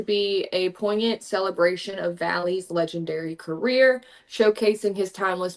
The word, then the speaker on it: Valli: you know who Frankie Valley is Katie y okay that's the only reason I was able to pronounce his name I probably would have said like volley or some stupid [ __